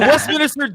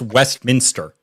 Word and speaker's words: Westminster: I'm not it's a Westminister dog show you uncultured SW you're not even saying it right it's Westminster what you're saying West